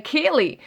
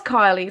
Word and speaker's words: Kiely: premiere um with the kylie rodney case which i'd actually called akili it's so annoying because i knew it instinctively that her name was kylie but i went on